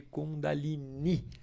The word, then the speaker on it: Kundalini: O ideal é pronunciar esse I mais forte, mas aqui no Brasil a gente tem muitas escolas e muitas linhas que chamam de Kundalini. Kundalini é uma forma considerada menos correta de pronunciar do que Kundalini, porque o I na tônica final designa que é um termo feminino.